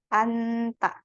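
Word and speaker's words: 앉다: Oke contoh di sini ada kata Anta ya an tapi ada j-nya j-nya ini ya Run silakan hapus aja seolaholah enggak dibaca gitu ya jadi bacanya ini doang yang ini tidak usah dibaca jadi Anta Kenapa Anta nah Anta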